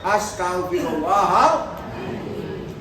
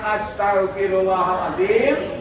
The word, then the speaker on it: astagfirullahaladzim: Sebutnya astagfirullahaladzim. Kalau ada pendengar sudah aku terlanjur Pak, kemudian aku sudah istighfar. Jika mana cara kamu ucap istighfar bukan itu. Bacanya astagfirullahaladzim, alladzi la ilaha illa huwal hayyul qayyum wa atubu ilaihi.